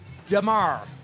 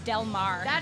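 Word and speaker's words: Del Mar: Uh how was Demar? See, you said it right. All right. We have a friend that always says Delmare.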